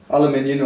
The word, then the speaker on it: aluminium: Aluminium or aluminum.